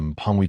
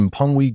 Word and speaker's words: Pongwe: By following her direction, one could locate the Pangi treasure. Martin attempted to articulate the name. Yet, it proved to be quite a tongue twister. Warren promptly corrected Martin's pronunciation. It is the Pongwe golden relic.